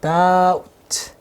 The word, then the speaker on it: doubt: 이때 B는 묵음이에요. doubt 하면 돼. doubt.